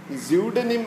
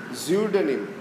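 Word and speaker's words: pseudonym: സിഡോണിം എന്ന് പറയുമ്പോൾ P silent ആണ്, പക്ഷേ അത് പെൻ നെയിം എന്നാണ്. സ്യൂഡനിം എന്നാണ് അതിൻ്റെ ശരിയായ ഉച്ചാരണം. സ്യൂഡനിം, സ്യൂഡോ, ഞാൻ നേരത്തെ പറഞ്ഞത് സിഡോ എന്നല്ല, സ്യൂഡോ എന്നാണ് യഥാർത്ഥ ഉച്ചാരണം. സ്യൂഡനിം എന്ന് നമുക്ക് ഉച്ചരിക്കാം. ഏത് എന്താണ് നമ്മൾ പലപ്പോഴും അല്ലേ, സൊറൈസിസ് എന്നാണ് അതിൻ്റെ ഉച്ചാരണം.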